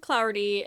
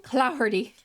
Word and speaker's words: Clougherty: Martin Clougherty, owner of a local saloon. You said it wrong. It's Martin Clougherty.